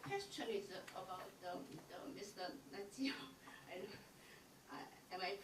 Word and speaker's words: Natsios: Natsios. Am I pronouncing right?